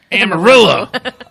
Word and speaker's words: Amarillo: Amarillo, if you want to be correct, politically correct. Oh, yeah. In Texas, they pronounce it Amarillo.